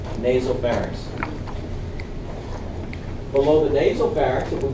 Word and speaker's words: nasopharynx: That's spelled N-A-S-O, not nasal. One word, nasopharynx.